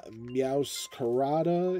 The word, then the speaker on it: Meowscarada: So, taking a look here, we are missing card number seven, Meowscarada, if I'm pronouncing that correctly.